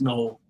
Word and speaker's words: Noel: It's Noel, Jalen Noel. So I was apologize. Right. Look at that. Yeah, you were right the first time around. So much for reading it how it's spelled and pronouncing it like it's spelled.